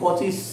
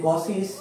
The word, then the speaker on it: Cauchy: topic আমরা শুরু করব কচিস কসি কচিও বলে কসিও বলে উচ্চারণটা এখন উচ্চারণটা কচি না কসি সেটা নিয়ে অনেকেরই মনে ইয়ে আছে তবে কসি বলাটাই আমার মনে হয় বেস্ট হবে অনেকেই কসি বলে তো